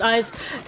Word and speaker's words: Eyes: someone on Eyes, which, apologies for the mispronunciation, thank you for informing us it is pronounced Eyes, got through in the back line here.